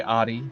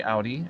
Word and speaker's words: Audi: It seems like the Americans uh like to say Audi, while the uh native land Europeans and Germans alike uh like to say Audi as it's meant to be pronounced.